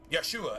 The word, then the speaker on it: Yeshua: Yeshua actually is how it's pronounced in Hebrew.